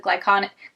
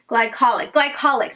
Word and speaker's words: glycolic: with different types of glyconic, oh wait, is that how you say it? Whatever, the toner, this toner doesn't say it on it, but I think it's glyconic. I guess that's how you say it. Glycolic, that's it.